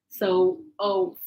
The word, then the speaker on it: oath: So the oath, because we have the TH, you have to pronounce it with your tongue between your teeth. So oath.